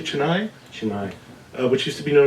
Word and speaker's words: Chennai: Thomas, the church for Thomas in, am I pronouncing correctly, Chennai? Chennai.